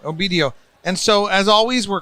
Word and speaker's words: Obedio: Obedio. Obedio.